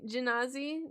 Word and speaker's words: Genasi: Is it Genasi or Genasi? Another they, them! You've always said it. Is it soft G? Genasi? Genasi. Okay, that seems to be at least multiple people use the soft G, so I will use a soft G.